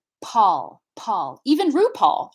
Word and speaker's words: Paul: I'm going to use the name Paul, for instance. So in English, the name Paul is going to have a puff of aspiration. Paul, Paul, even RuPaul, right?